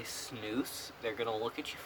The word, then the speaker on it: snus: at you funny because I don't think many Americans know how to pronounce it it's turned out they pronounce its nose which is not even close to being correct it's smooth you of